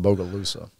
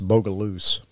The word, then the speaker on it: Bogalusa: yeah yeah now guys the people that are from that area they don't they don't pronounce it bogalusa it's bogaluse my dad pronounces that